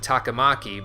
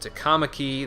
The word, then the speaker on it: Takamaki: Like, Anne's last name, if I was to pronounce it, I would pronounce it Takamaki, but in this game they pronounce it Takamaki.